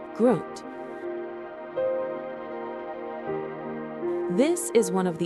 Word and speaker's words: Grund: Located at the bottom of a deep stone canyon carved out by the Alzette, pronounced Alzette River, lies the Grund, pronounced Groot.